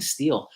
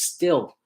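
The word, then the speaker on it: Stihl: I keep saying Steel, although it's actually pronounced Still. When I was at the Equip Expo, I asked them, "Is it Steel or Still?" And they all said it's Still. It's a German company, and it's pronounced Still, which is funny because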